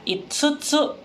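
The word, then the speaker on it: いつつ: Kalau yotsu, tsunya itu kecil yang di tengah, makanya kita bacanya yotsu. Jadi double T gitu ya. Tapi kalau misalnya yang 5, itu tsunya hurufnya besar, jadi kita baca itsutsu.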